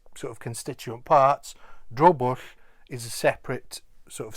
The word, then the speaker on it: drobwll: Dro is just dro, and bush, like push, but this is bush with a double L at the end. So this is drobush.